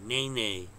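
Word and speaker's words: Nae Nae: It's spelled N-A-E-N-A-E. Nene. My daughter drilled that into my head. Because I kept saying N-E-Y.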